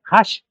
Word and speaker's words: Hach: Bueno, ellos eh ya se pronuncia así, Hash, eh pero eh es realmente Haj.